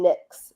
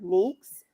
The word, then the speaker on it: Nyx: you know the name Nicks NYX. Yeah. Um the Greek pronunciation of it is more nicks and so in the savior series I have them pronounce it as nicks.